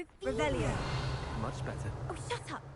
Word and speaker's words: Revelio: Revelius! You're saying it wrong! Ugh, Revelio!